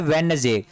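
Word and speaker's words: Wednesday: सभी ही बोलते होंगे वेडनेसडे, लेकिन ये होता है वेडनेसडे, ठीक है। वेडनेसडे मीन्स D वर्ड यहाँ पे नहीं बोला जाता है, D वर्ड क्या होता है, साइलेंट होता है, इसको पढ़ते हैं वेडनेसडे।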